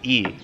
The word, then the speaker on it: i: So the predicate marker is pronounced E. It's the letter I, but it's pronounced E.